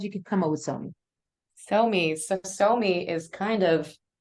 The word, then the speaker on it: Sohmi: So in Korean it would be pronounced more like Sohmi, Somi?